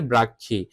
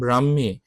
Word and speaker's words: ব্রাহ্মী: অনেকে উচ্চারণ করে ব্রাক্ষী। এটা ব্রাক্ষী না উচ্চারণ হবে ব্রাহ্মী।